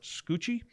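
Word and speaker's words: Scucci: ago published by Robert scoochie I think that's how you say his name SC C CCI yeah like Stanley Tucci but scoochie scoochie scooch it says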